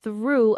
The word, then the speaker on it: through: Pronunciation reminder, through rhymes with blue, true, new, new.